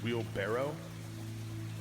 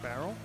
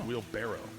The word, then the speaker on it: wheelbarrow: It's like, did you know it's it's wheelbarrow? It's not barrel. Uhuh. It's wheelb barrow.